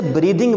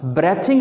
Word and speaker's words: breathing: चूँकि ब्रीद था, अब ब्रीद से ब्रीदिंग बनेगा, ब्रेथिंग नहीं पढ़ना है इसको।